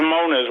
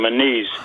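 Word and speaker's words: Moniz: It's only became manise, which is, as I always say, a halfass Portuguese pronunciation.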